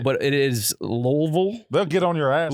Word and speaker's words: Louisville: mized teeth that's the only word you can pronounce brand is that accurate yeah it's pretty good yeah he's right but it is lville they'll get on your ass L on your ass yeah Louisville louville so Elizabeth Town Kentucky is the Orlando Bloom